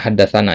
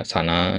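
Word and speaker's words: حدثنا: Haddasana Utsman ibnu Abi Syaibah ya sana ya ini bacanya haddasana ya ringkasannya. Jadi nanti jangan antum baca sana ya haddasana bacanya itu ringkasan dari ini ya.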